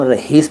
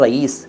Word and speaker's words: रईस: और कई लोग तो रहीश कहते हैं, रहीश, रहीश अहमद ना। सही शब्द है रईस, रईस। साउंड जो मैंने बोला वो आपने सुन लिया ना, वही उच्चारण है, रईस।